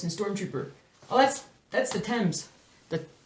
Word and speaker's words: Thames: Oh, that's the Thames. The Thames. The Thames is how we Americans might say it, but it's the Thames.